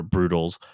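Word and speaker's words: Broodals: negative connotation with it you have it's but it's spelled brood b-r-o-o-d-a-l-s or brutals so they're brooding or that brood also kind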